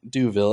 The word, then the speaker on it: DeVille: But my name is pronounced Duville, as he knows, as he always.